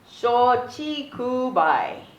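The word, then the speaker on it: 松竹梅: had to look this up because I can't pronounce it properly it is called Sochi kubai okay mint pine bamboo plum okay and the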